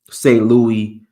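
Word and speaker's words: Saint-Louis: Louis, the French pronunciation, St. Louis Jazz Festival.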